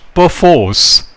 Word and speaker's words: perforce: My fourth sentence is, we must perforce be careful. Here the word perforce stands out. In UK pronunciation, R is silent.